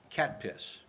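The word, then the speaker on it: CATPS: I call it cat piss. That's C-A-T-P-S. How else would you pronounce it?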